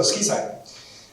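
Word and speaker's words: SQIsign: The pronunciation is again, to make it sound nicer, than SQI.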